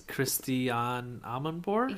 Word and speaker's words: Christiane Amanpour: A very famous news anchor, and I'm going to pronounce her name wrong, so Joe, you do it. It's Christiane Amanpour?